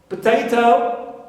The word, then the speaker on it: potato: so Z is stressed clear potato potato so T is rest because second syllable here